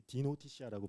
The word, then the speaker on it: Dnotitia: 그리고 이게 좀 발음하기 쉽진 않은데 요새 D가 이제 딥의 약자예요. 요즘에 뭐 딥이 들어가면 다 이렇게 뭐 뜨잖아요. 그래서 저희는 딥 안에 D가 딥의 의미고 그다음에 노티시아는 어떤 knowledge의 의미예요. 그래서 약간 헷갈릴 수 있으시긴 한데 저도 입사한 지 얼마 안 돼가지고 가끔 혼동되긴 하지만 이게 디노티시아라고 발음하시면 됩니다.